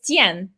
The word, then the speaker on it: Qian: And is it Win? How do you say his name? It's Qian. Qian.